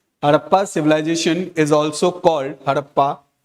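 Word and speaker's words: Harappa: हड़प्पा culture हड़प्पा civilisation हड़प्पा की spelling ये है डी मत लिखना एच ए आर A double P ए ठीक है हरप्पा civilisation is also called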